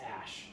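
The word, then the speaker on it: Æ: is pronounced Ash.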